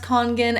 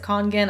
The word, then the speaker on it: Kangen: congan water filters again i'm pretty sure it's pronounced kangen every kind of like more official video that i've seen explaining these water filters by people who are like in the company they all pronounce it kangen i don't know but